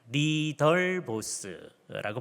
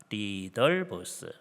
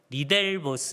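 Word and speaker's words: Ridderbos: 하는 신약 학자가 있었는데요 리더 보스라고 발음을 합니다 리더 보스 우리가 대학생 때에 우리가 그냥 이거를 우리 식으로 영어식으로 발음해 가지고 리델보스 이렇게 했었었고 그래서 이제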